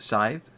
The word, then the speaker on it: Scythe: You see how I deliberately pronounce Scythe so I don't screw it up every time?